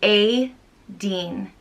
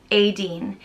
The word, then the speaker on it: Aideen: which means little fire it's pronounced a dean adeen it's the girl version of the irish boy named aiden um aiden is hugely